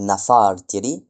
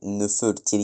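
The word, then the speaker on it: Nefertari: Donc Nefertyri voilà pas compliqué à dire. Et ben vous pouvez dire Nefer, Nefertyri ou Nafertyri euh bah du coup pas Nafer mais Nefertyri ça c'est c'est dur à dire.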